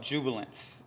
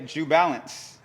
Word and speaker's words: Jubilance: Everyone would say Jubalance. You were like, not New No, Balance. it's Jubilant. You gotta say it together, you know.